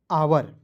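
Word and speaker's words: hour: E knife H ओ यू आर पढ़ेंगे दोस्तों आवर ठीक है एच ओ यू आर आवर उसके बाद डब्ल्यू आर आई एस टी वरिष्ठ नहीं पढ़ेंगे देखिए इसे रीस्ट पढ़ेंगे।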